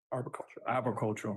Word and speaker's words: arboricultural: Arboricultural, excuse me, I can't pronounce that word.